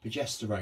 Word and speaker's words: progesterone: What do I normally say? Progesterone, and you normally say pedestrian.